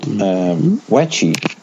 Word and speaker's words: Weche: What's also interesting to note is that, as you may remember, there is actually a Taiwanese pinball company called Weche. That's spelled WECHE.